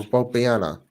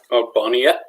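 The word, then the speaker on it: Ogbonnia: At 178, 2 picks later, we picked Otito or Bobbiana. I think that's how you pronounce it. Ogbonia, yeah. Ogbonia. Okay, thanks for correcting me.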